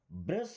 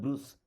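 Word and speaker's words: brush: अब देखिए, आपको हिंदी में भी ऐसा ही दिखेगा, बट हिंदी में होता है ब्रुश। हिंदी में क्या होता है? ब्रुश, और इंग्लिश में ब्रश।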